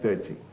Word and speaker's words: Chi: Chi is it is pronounced with a T sound, Chi.